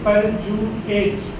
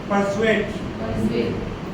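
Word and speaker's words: persuade: देखिए परजुएट प्रोनाउंस कर कीजिए आप इसको पर्सुएट।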